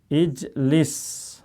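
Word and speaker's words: اجلس: Cara bacanya lihat huruf ketiga. Kasrah. Berarti dia kasrah bacanya ijlis.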